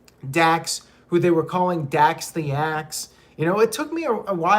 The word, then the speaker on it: Dax: who they were calling dax the axe you know it took me a while to realize dax rhymes with acts of demolition and cash rhymes with